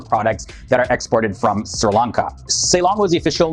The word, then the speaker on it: Sri Lanka: Island also the name Sri Lanka is sometimes pronounced as Shri Lanka and this was just because of a preference of a former prime minister in the pronunciation of